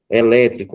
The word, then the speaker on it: elétrico: Elétrico, ó, é mais forte.